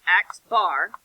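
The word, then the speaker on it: x̄: So this is pronounced x bar. Right? X with a bar on the top.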